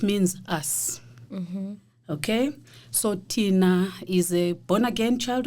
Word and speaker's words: Thinah: to speak about myself who I am so Tina I believe you heard the way I pronounced my name Tina not Tina yeah cuz